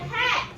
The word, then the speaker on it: hatch: Hatch. Sound that hatch. Go. Hatch. Hatch. I see up here. But one of them have a special letter in it that is silent.